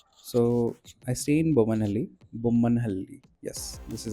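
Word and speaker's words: Bommanahalli: Bumman Hali. Yes, this is how it pronounced I around 1.5 years and starting it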